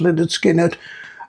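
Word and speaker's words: Lynyrd Skynyrd: Uh and pronounced Leonard Skinnard.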